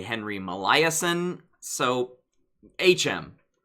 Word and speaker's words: Molaison: Now, I've heard his last name pronounced a number of ways. Henry Molaison is how I've heard it from Stan Klein, who I learned memory from.